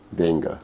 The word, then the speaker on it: d'Engle: Help me pronounce the second name. Dengle. Dengle.